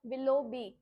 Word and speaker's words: Willoughby: देखो सबसे पहले क्या क्या किसकी, बी वाई, WILLOUGHBY, विलोबी, ठीक है, जी साइलेंट है इसमें, विलोबी लिखा।